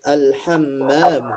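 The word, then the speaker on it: الحمّام: Alhammam. Alham. Alham kan ada alif lamnya ya. Eh ada alifnya ya. Jadi kan bacanya ma. Enggak mungkin mi alhammamu dan almirhabu.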